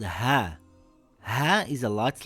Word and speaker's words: ه: This letter is called ha. Ha is a light letter. Ha makes a similar sound in English to the letter H in the word hat or the word horse.